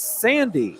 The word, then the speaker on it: Sandy: fred abida right there apparently we are mispronouncing number 22 jessie sandy it's sandy sandy jesse sandy so go